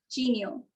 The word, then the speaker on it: genial: So guests and toasties, do remember that it's supposed to be pronounced as genial. Like you're saying, like you're about to say genie, like genie in a bottle, like in the Aladdin